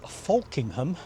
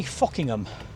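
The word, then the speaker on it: Folkingham: But I'm going to pronounce this place right, because on the map you'll see it says it's Falkingham, but here they say Fockingham.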